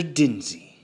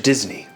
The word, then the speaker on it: Disney: So you are, in fact, Mr. Dinsey. No. Mr. Disney. If you're gonna say it right.